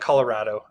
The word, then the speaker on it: Colorado: We call it Colorado. I believe it would be more correctly pronounced Colorado, but don't try to pin me down on my pronunciation. I know that Colorado is from the Spanish.